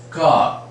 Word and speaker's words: car: denoted by this symbol, as in car, right? Car. We don't sound that r.